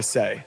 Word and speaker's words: Sei: Sei is spelled S-E-I.